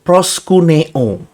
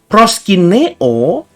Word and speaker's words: proskuneo: Proskineo, tergantung pelafalan saudara, itu berarti to kiss the ground when prostrating before a superior.